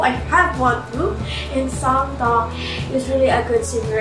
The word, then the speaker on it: Song Mino: Yeah, that's how it pronounced Song Mino.